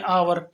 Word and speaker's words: hour: आवा, सबसे पहले एग्जाम्पल HOUR, हम आमतौर से बोलते हैं आवर, आवर, but this is नॉट the correct pronunciation. Correct pronunciation will be आवर।